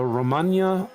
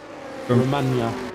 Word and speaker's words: Romagna: Romagna. Is it Romagna, Skip? Romagna. Romagna. Nah, it's not I know. Romagna, mate. I know. That's how it's... Just say how it's spelled. Imola. Oh, like lasagna.